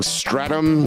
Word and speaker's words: Streatham: Together, you can hear the song Stratum, which for white people or American people, it's spelled Stratham, Streatham. We don't pronounce things right here, so you won't find it.